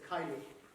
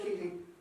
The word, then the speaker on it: Keating: his name because i would have assumed uh that's dez kylie but um apparently not it's this key um pronounced in the northern fashion so dez keating thank you very much thank